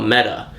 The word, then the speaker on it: meta: But basically, the second Prelude issue established that this metal is in everybody in the DC universe who they call a meta.